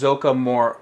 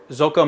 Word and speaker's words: Zoukei: going trying and say it right it's it's zoka zoka mura it's how you say it zoka mura and basically that means um a modeling